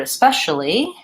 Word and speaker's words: especially: so the question is whether the word especially has an it especially or especially and I think those are probably both acceptable because again this the speche especial is but stressed and these are going to be a reduced vowel but let me show